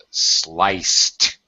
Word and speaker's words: sliced: Pronunciation is sliced. Sliced. Sliced. Yeah, it has the T sound.